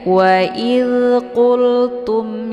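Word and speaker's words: وَقُلْتُمْ: Cara bacanya mimnya dibunyikan secara jelas atau jelas bunyi m-nya. Tum ya. Wa qultum ya, ditekan saja, tidak perlu ditahan.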